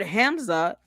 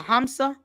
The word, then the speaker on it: Hamsa: The word Hamza or is it is I'm saying it wrong. Kazma Kamsa a Hamsa is a Hamsa.